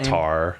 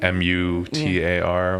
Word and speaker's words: Matar: Matar. Okay. Yeah, they don't say Matar, like Mutar, I guess would be Matar, but they probably say like Mutar or something like that.